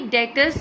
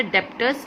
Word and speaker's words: debtors: अब ये डेटर्स basically अगर हम बात करते हैं कौन होते हैं, डेटर्स में बी साइलेंट है, ये एक चीज़ का थोड़ा सा ध्यान रखना है। इट्स नॉट अ डेप्टर्स, इट्स अ डेटर्स।